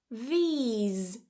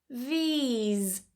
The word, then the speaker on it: these: However, these, these, notice that the vowel here isn't as short as I. I i. Notice also what I'm doing. I'm smiling. This one is what I like to call the miserable I.